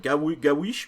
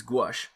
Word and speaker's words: gouache: It was like gawish, guish, quish, quish. I'm like, oh my god, it's gouache. But yes. Anyways, and my wife was using gouache, and so and one